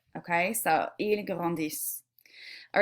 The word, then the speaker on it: grandissent: This would be pronounced ils grandissent. Remember, with our plurals, we do not pronounce the ending. So I'm going to put this in some weird color. I don't know. Dark-ish. Okay, so there is an ENT ending, but we don't pronounce it.